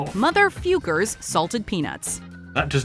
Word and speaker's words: Fuker: But in their defense, the questionable word is pronounced Fukers.